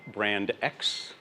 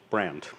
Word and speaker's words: BrXnd: It is not BrXnd, which is by far the worst of the pronunciations. I just call it brand.